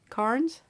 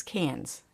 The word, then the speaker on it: Cairns: Heading off on Tuesday to Cairns? Carnes? Say it like this. Cans.